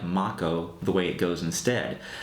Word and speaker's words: Mako: way when I played this game originally I pronounced the lifestream of the planet as Mako energy but found out many years later that it's actually Mach Oh so let me know in a comment below